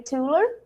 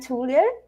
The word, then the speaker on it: Thuilier: are here with Sami tuler it's right tuler the the pronunciation Sam it's not easy hi Carolina uh it's it's TR it's a French name but uh it's really